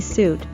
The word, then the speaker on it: suit: Note that the UI is pronounced as the long oo sound.